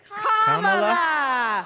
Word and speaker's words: Kamala: First, you say comma like a comma in a sentence. Then you say la like la la la la la. Put it together, and it's 1, 2, 3. Kamala.